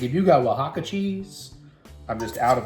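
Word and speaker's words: Oaxaca: I'm just out of wajaka cheese. It's the best cheese in the world. That is also spelled with O X by the way, the first letters in case you're trying to look that up.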